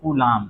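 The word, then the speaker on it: Coulomb: खोज की थी वैज्ञानिक कूलाम ने। किसने, कूलाम। इंग्लिश स्पेलिंग में लास्ट में बी आता है, हिंदी में बस कूलाम।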